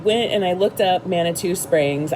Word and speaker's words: Manitou: Okay, so one thing that I did end up doing is I went and I looked up Manitou Springs. I'm assuming it rhymes with caribou.